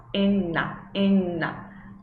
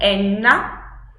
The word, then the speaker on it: Enna: Então, no primeiro caso, eu tenho N, eu não tenho E, eu tenho N, e depois tenho na, enna. Pronuncia em casa até ele sair leve, assim como enna, porque é assim que